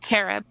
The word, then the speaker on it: Carob: Carob. Carob. Okay. Uh-huh. Just like the health food, the imitation chocolate.